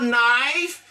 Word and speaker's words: knife: A knife, okay? K, there is a pronoun. Ça pas prononcé. Ka ki devant la pas prononcé, okay? Just the knife.